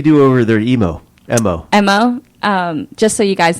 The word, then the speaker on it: MO: MO. MO. Just so you guys know, MO, it's in the dictionary, the pronunciation when it's spelled out. Yeah. So that's the letter M and the letter O.